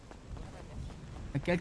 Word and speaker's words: Kael: Ça s'écrit comment, un K et un L? K-A-E-L. là. Ah, c'est cool, c'est cool. C'est bien, c'est un peu comme Maël. Ouais, mais avec un K.